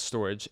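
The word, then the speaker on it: Storj: when you look at what is storage storage pronounced as storage is an open source cloud storage platform basically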